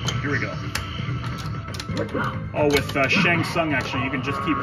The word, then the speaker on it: Shang Tsung: Shang Tsung.